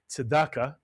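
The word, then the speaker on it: צדקה: tzedakah, mitsuyan, and tzedakah, which you'll hear often pronounced as tzedakah.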